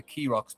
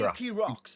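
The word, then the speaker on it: Keeraghs: little island formation called pronounced the Keerocks, but it's spelled k e e r a g h. But they say Keerocks, though. But people say They say Keerocks.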